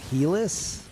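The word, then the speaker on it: Helice: It's pronounced Helis.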